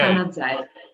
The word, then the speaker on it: Canazei: Val di Fassa, and the actual village name is Canazei, spelled with a Z. Okay. Canazei.